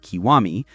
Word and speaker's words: Kiwami: His name is written as Gokudo, but pronounced Kiwami.